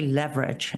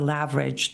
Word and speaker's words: leverage: I can never say leverage. It's always a laverage. The either gets my Turkish in. But laverage is not a mispronunciation. It's just an accent.